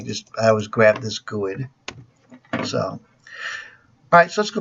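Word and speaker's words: GUID: graphical user ID guy I call it gooood I've heard people pronounce in different ways anyways that's the way I say it so and then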